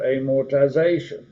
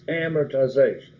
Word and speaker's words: amortization: the beginning of time they break that up because amortisation it's amortization amortization they don't have the word more any hammers ization so youtube we're no different than those in the past they all pronounce it the same way okay so you learned